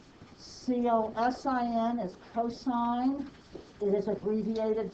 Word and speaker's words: cosine: pronounced sine c-o-s-i-n is cosine it is abbreviated cos it is never to be pronounced cos and this one is